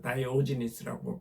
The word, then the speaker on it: 디오게네스: 이 모든 것이 지금 디오게네스 다이오지니스라고 발음한 디오게네스의 그 말이었습니다.